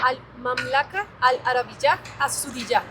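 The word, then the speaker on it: المملكة العربية السعودية: Al mamlaca, al Arab, a Zudillá.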